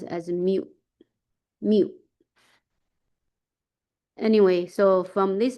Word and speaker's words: mu: It's a mu. It's this notation. Remember with sample, with sample sample mean, we use X bar, right? So, population mean, we use this mu.